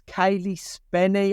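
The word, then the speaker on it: Cailee Spaeny: Kaylee Spenny, I believe it's pronounced.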